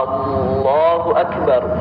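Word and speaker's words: الله أكبر: Karena kami sendiri pernah mendengarkan ya, seseorang itu ketika mengucapkan takbir memanjangkan hamzahnya lafzul jalalah Allahu Akbar. Nah, ya itu pengucapan takbiratul ihram ya yang keliru ya. Karena dia memanjangkan hamzahnya lafaz Allah ya. yang mana ketika kita memanjangkan lafaz Allah e hamzahnya lul jalalah maka itu akan merubah makna takbir itu ya.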